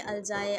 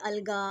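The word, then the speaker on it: algae: है अलजा में अब काफी लोग इसको प्रोनाउंस करेंगे अलजा अलगा और अलग-अलग लैंग्वेजेस में जो अलग अलग तरह से पढ़ते हैं क्योंकि ये हमारी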